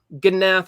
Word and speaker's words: Gnath: along in my manuscript, Gnath is pronounced with a hard G. Thank you, manuscript, for telling me. Like Gnath, but not so hard. An easier G. So it's more like Gnath, but no apostrophe.